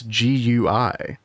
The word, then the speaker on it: GUI: Somebody in YouTube comment said, "Uh, it's not guey, it's gui." And I was like, I'm not the only person who pronounces it gooey, right, Chad? Am I insane? I think I've heard that a lot. Like gooey. Like both are valid.